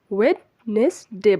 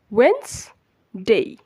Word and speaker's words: Wednesday: আমরা মূলত এটাকে ওয়েডনেসডে বলি, বাট এটার সঠিক শুদ্ধ উচ্চারণ হচ্ছে ওয়েন্সডে, ওয়েন্সডে। Repeat after me, ওয়েন্সডে, ওয়েন্সডে। সো আজকের পর থেকে আমরা এটাকে ওয়েডনেসডে বলবো না, এটাকে বলবো ওয়েন্সডে।